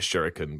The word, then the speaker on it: shuriken: I think it's saying it right is it shuriken stars and everything that's right shuriken but whatever the exam yeah like you can